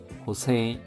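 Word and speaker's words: 補正: 호세 하면은 보정입니다.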